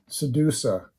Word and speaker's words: Xedusa: so this is the Sedusa from the harbos now it's spelled xcd USA just like Medusa but um with an X instead of an m where's the bottom here